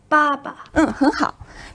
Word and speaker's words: 爸爸: Baba pay attention here not but the first character ba is in the fourth tone but the second one is in the neutral tone or the light tone.